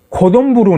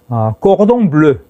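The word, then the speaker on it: cordon bleu: 정체를 찾아 보니까 묻더군요 자 고 동부로 는 꽃 옹브르 꼭 호동 블루 라는 불어에 일본식 발음입니다 크게 세 가지 의미를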